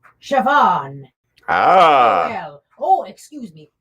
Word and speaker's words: Siobhan: Pronounced Siobhan.